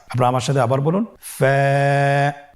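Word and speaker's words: ف: ফা হরফটি আপনারা স্ক্রিনে দেখতে পাচ্ছেন। ফা হরফটি উচ্চারণের ক্ষেত্রে বারিক হবে এবং এক আলিফ টেনে পড়তে হবে।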